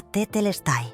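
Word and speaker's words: τετέλεσται: La palabra que Florencia redescubrió era tetelestai, pronunciada tetelestai.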